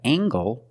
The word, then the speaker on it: angle: compare these two words we have angle spelled l-e making the nasal sound and the Heart G angle this is a right